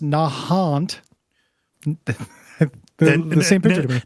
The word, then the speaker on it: Nahant: is pronounced Quincy uh Nahant is pronounced Nahant the same picture n